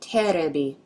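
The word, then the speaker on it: テレビ: These are katakana characters pronounced terebi. Any idea what they mean? If you guessed TV, then you're right. I told you the term was used loosely.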